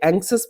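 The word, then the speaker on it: anxious: चलिए इसकी प्रोनाउंसिएशन को लेके काफी चिंता रहती है बच्चों को, ठीक है, तो ये एंक्सस पढ़ते हैं इसको, एक एडजेक्टिव है, इसका मतलब होता है चिंतित, वरिड।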